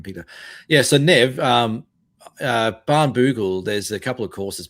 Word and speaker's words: Barnbougle: How do you pronounce that? Barnbougle? Barnbougle.